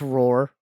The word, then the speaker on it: RRR: i don't think that's what it's called it's pronounced roar two hours and twenty minutes on the everything